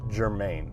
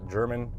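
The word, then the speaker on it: Germann: we're coming up to germain now i know it looks like german or german but is pronounced germain now this is one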